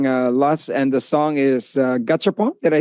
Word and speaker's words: Gachapon: we are hearing LUSS, and the song is Gachapon. Did I say it right? Gachapon, yeah. Gachapon.